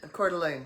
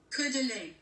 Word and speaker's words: Coeur d'Alene: I cannot pronounce the name, it's in French. Coeur d'Alene. I don't know. Coeur d'Alene. Thank you. I knew right away when you said it's French. Coeur d'Alene.